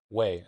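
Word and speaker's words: güey: So this word, way, way. Way. I don't think you hit the G very hard in this one.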